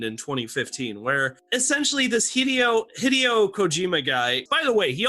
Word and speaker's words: Hideo Kojima: and JP say his name one more time hideo Kojima oh God I'm sorry I haven't even cultured